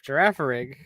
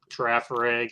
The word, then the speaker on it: Girafarig: also Also, they pronounced the G as a G when G. it should be pronounced with a J.